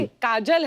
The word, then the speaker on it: Kajol: काजल है ना, but काजल होता है, काजोल हाँ, but मतलब बंगाली में काजोल। बंगाली में बंगाली में ऐसे उसका प्रोनाउंसिएशन है पर सर।